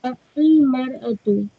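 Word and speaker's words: المرأة: In this sentence, we will pronounce Al-Mar'atu. Okay. How will we know how to pronounce it? Oh. Because your spellings are different. Okay. When you talk about non-specific woman, you will say Imra. When you talk about a specific woman, you will say Al-Maratu.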